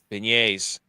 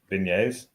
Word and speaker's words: beignet: Beignets. It sounds like Beignets. beignets. It's a soft G.